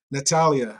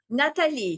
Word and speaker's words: Natalie: Nat- Natalia, how are you doing? Did I say it right? Hi, I said Natalie Natalie. Yes. Lee. There was no A at the end.